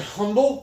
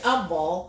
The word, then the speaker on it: Humboldt: He goes, why do we pronounce it humble? Because there's a freaking H there. But it is humble.